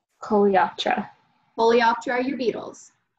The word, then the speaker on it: Coleoptera: you saying them to learn how to properly pronounce it. So, Coleoptera. Coleoptera.